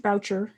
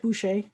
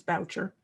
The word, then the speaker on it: Boucher: Genie Castles, and it's pronounced Boucher. It looks like Boucher, but we've been assured by the family that it's Boucher.